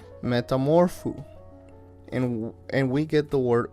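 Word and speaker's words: μεταμορφόω: great because the Old Testament so Greek is pronounced Metamorpho and we get the word met metamorphosis from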